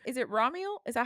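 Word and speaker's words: Ramiel: That's what's so funny is like, is it Ramul? Is that how they pronounce it in the audio books? In the audio books, it's pronounced Raml.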